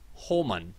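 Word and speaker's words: Hohmann: For anyone who is wondering, it's pronounced Holman transfer.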